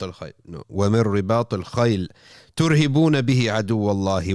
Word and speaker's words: رِبَاطِ: You shouldn't roll your R's in tajweed. You don't say وَمِن رِبَاطِ الْخَيْلِ. No. وَمِن رِبَاطِ الْخَيْلِ تُرْهِبُونَ بِهِ عَدُوَّ اللَّهِ وَعَدُوَّكُمْ وَآخَرِينَ مِن دُونِهِمْ لَا تَعْلَمُونَهُمْ اللَّهُ يَعْلَمُهُمْ.